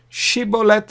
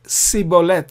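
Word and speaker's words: שיבולת: Shibolet was supposed to be correct, whereas the Benjamites pronounced it wrongly. We read about it in the Bible. They pronounced it sibolet instead of shibolet.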